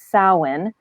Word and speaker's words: Samhain: So the actual pronunciation of the word is Samhain, because it's a Gaelic word.